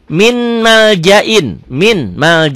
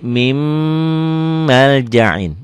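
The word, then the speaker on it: مِن مَّلْجَإٍ: Ditulisnya min maljain, dibacanya jadi mim maljain. Mim maljain. Kenapa mim? Karena idgham bigunnah, diidghamkan, dimasukkan, dileburkan, disertai dengan dengung.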